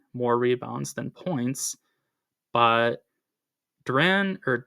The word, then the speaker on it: Duren: realized he's averaging more rebounds than points but Duran or durran I don't know how to say his name for some reason that's giving me issue but it Duren okay thank you uh basketball reference Duren is